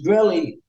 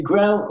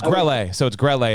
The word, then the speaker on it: Grelle: Yeah, but they always pronounce my name wrong. It's Grelle, and they usually say Grelle or Grelle. Yeah, so it's Grelle.